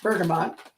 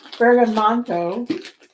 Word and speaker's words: bergamot: Bergamot, pronounced bergamot, or bergamonto, is an aromatic Mediterranean citrus fruit.